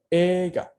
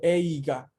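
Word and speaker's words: 映画: Es esta palabra que tiene una doble E fonéticamente hablando. Entonces llegan a escuchar ega. Yo no digo eiga. Y esto es una situación de fonética. Ei se pronuncia E larga.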